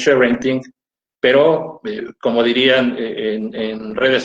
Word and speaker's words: sharenting: cuando arrancamos este evento la palabra que digamos en estricto su pronunciación es ser vending pero como dirían en